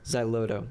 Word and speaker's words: Xyloto: How do you pronounce Milo Xyloto. Xyloto.